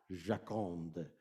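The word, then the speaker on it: Joconde: woman is is uh in italian la giaconda i think giaconda and then in uh in french it's like jacomd all right which i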